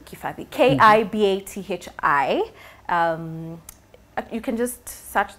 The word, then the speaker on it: Kibathi: So my Instagram handle is Kibathi, or actually you'd pronounce it as Kifali if you're Kikuyu. The B is an F. It's written as a B, but pronounced as an Kibathi. F. Kifali. So usually I just say Kibathi, but it's supposed to be Kifathi.